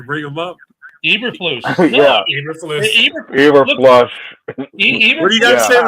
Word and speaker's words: Eberflus: Eberflus.